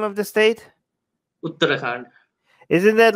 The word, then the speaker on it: Uttarakhand: And this state, is with, how do you pronounce the name of the state? Uttarakhand.